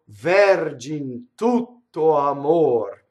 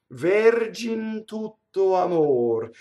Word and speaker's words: Vergin tutto amor: So it would be wrong to go Vergin tutto amor and overly accent each accent, that syllable. You want the flow of Vergin tutto amor.